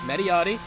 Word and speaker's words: Mediati: to pronounce his name it's not media it is mediati which is an Italian name I believe it translates